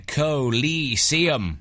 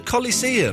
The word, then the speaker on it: Coliseum: call there that's a he mispronounced his K it's the Coliseum are you brave enough to enter the colum it's the colise it's a Coliseum what what a muppet